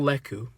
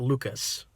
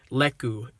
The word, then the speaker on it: lekku: mantras her head tails her leku they're called leku not lucas that i figured i was pronouncing it wrong because luca it does sound like it could be correct but leku is the correct pronunciation and spelling so yeah